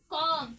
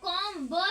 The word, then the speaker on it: comb: जैसे में कॉम, COMB, इसको हम लोग कॉम ब तो नहीं पढ़ रहे, क्या पढ़ रहे, कॉम ब है वो साइलेंट, बी है वो क्या हो गया, साइलेंट हो गया।